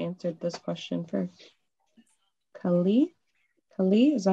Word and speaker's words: Kali: Kali, is that how you pronounce it? Akash? Akash. Sorry? Is it Kali? Yeah. Kali? Kali? Okay, wait. Kali Devi.